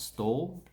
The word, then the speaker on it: Stawell: Stall. A stall like in a shop or a market stall.